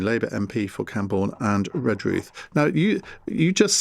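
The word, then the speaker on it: Redruth: Uh the way to pronounce is almost to forget the re.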